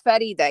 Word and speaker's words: Farida: it's Farida. Yeah. Oh, you must be Latina, because Yes, Latinos know Farida. how to say it. Yes, Farida. Farida. Farida's fine. Yeah, Farida, but Farida's fine.